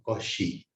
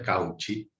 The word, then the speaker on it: Cauchy: Y después viene ese otro que es impronunciable, que es, escuche bien, Cauchy. Para nosotros es Cauchy. Teorema de Cauchy, que es como decir Cauchy en francés.